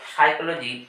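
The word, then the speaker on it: psychology: এখানে এল সাইলেন্ট আবার সাইকোলজি বহুল প্রচলিত একটি ওয়ার্ড এটি কিন্তু শুরু হয় পি দিয়ে এর উচ্চারণ হয় না পি এখানে সাইলেন্ট এবার কখন কোনটি সাইলেন্ট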